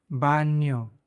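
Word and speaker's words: baño: बान्यो।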